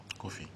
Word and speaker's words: Coffie: And your name, they spell it Coffie. True or false? True. You say it's what? Kofi.